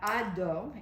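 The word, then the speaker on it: अधो: So we have ado, and the DH in Sanskrit is guttural, so you pronounce it in right here.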